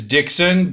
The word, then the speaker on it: Dixon: know how do you pronounce your first and last name my first name is Dixon D IX o n and your last name